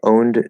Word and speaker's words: owned: a very important point owned does not have an e sound okay remember usually the ed ending in 99 of cases the e is silent okay um the only